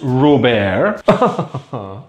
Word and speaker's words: Robert: well okay let's investigate sauce Robert pronounced raw bear brown mustard sauce made